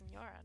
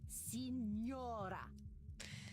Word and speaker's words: Signora: I think this one's probably the most similar to how you pronounce Senora, no? All right, Senora. You have seen my what? Have you been peeking under my skirts, young man? Huh? What are you talking about, lady? Signora. Say it.